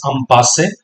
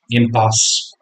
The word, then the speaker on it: impasse: So impasse has come from French. Okay, that's also pronounced as impasse, right? But in English we pronounce it as impasse.